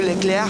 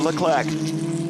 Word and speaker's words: Leclerc: Oh, for our French-speaking listeners, adieu Leclerc en français. But as we are doing the broadcast in English, we'll pronounce it with the English accent. Arthur Leclerc from Monte Carlo, Monaco.